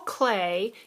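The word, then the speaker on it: Klee: physics problem but Paul clay that's how you spell that it looks like CLE but it's Clay defined a line as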